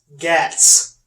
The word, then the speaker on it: Guts: Gats. Which is how it's said in the manga. For some reason. Who? Guts.